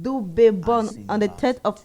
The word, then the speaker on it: Dube: As our African Hero series bulletin says, Lucky Philip Dube, pronounced Dube, born on the 3rd of August 1964 at Emolo, Transvaal, now called Pumalanga.